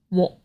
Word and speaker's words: 喎: The first one is 我. The pronunciation is also very similar to 我 that was introduced in a previous video, but that one was in the 3rd tone. This one is in the 4th tone.